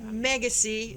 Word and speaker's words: Megacy: Megacy. Megacy. Rhymes with legacy.